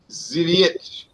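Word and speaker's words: Zwickel: It's pronounced Zwick Porter.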